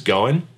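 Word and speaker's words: 五円: it also talks about the right name or pronunciation of five Yen which is going which also is the same word for fate or good luck I love ordering things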